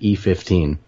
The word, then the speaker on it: Eyjafjallajökull: But those of us who are not Icelandic actually pronounce it E15. That is to say, E followed by 15 letters.